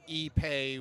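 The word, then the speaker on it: ipe: I guess this would be similar to E-Pay, which is spelled I-P-E.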